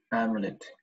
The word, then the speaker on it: amulet: If you want to get the amulet. Oh. What happened to my Microsoft? Amulet.